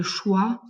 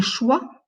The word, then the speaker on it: choix: Un choix, ça va être dans la liste B. Bravo, parce qu'on ne prononce pas le X.